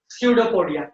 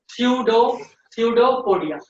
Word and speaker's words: pseudopodia: This is pseudopodia. What is this? Pedia. P is silent. P is silent. So don't read P. Now read pseudopodia.